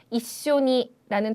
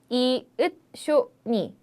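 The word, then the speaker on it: 一緒に: 이쇼니도 가끔씩 이 다음에 있는 쯔가 조그맣게 나와 있기 때문에 한국 분들께서 이쇼니 이렇게 짧게 발음을 하는 경우가 상당히 많은데 아닙니다. 그 조그만 쯔 발음, 초금도 여러분께서 꼭 한 박으로 카운트를 해주셔야 돼요. 그렇기 때문에 이으쇼니 4박이죠.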